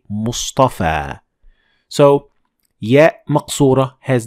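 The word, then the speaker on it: مصطفى: side yeah max Ora is pronounced like an Aleph like in the word Mustafa Mustafa so we don't say Mustafi we say Mustafa so yeah Mott's Ora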